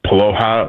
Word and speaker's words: Paloha: Hey, and I appreciate, at first you butchered my last name, but then you brought it back, and it's Paloha, like Aloha, but with a P, and you got it right the second time.